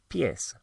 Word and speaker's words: pies: So, for example, the word for feet are pies. Los pies. Los pies. Pies spelled pies, but obviously not pronounced like that.